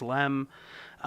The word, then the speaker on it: LM: The Lunar Excursion Module, the LEM, sometimes just shorted to LM and still pronounced LEM, is essentially the first fully spacecraft we've ever built.